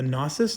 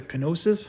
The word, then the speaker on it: gnosis: is the uh the the gnosis the canosis however you want to pronounce that usually kn is like knife so i would say the gnosis but you could also